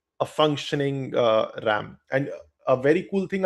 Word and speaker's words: RAM: but more commonly as random excess memory or RAM pronounced same as the animal.